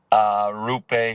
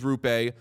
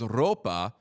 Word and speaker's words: Roope: Okay, And first then we heard it was Roope. Then we heard like maybe it's like Roope, as you said, get the R going. And then I think it was the NHL pronunciation guide listed it as Ropa. So I just went for that, and everyone was like, that's not what it is.